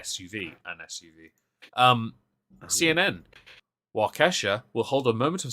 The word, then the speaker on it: Waukesha: wisconsin i can't pronounce the word waukesha is that it yeah okay no not wakasha like the singer um i'm gonna read